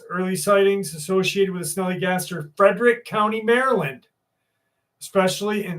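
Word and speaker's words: Snallygaster: I know people think the name is funny, but that's what it's called. Snellygaster. It's spelled Snalllygaster. And the Snellygaster it's an American folklore.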